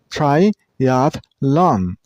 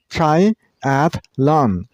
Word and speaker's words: triathlon: Triathlon use stress on the middle syllable. I mean on sound triathlon.